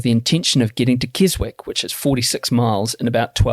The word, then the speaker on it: Keswick: George Fisher is a shop in Keswick. You run all the mountains. Sorry, Matt. I have to say this. It's Keswick. Oh. Yeah. Carry on. But it's spelled Keswick. Yeah, I know, but it's Keswick. Sorry.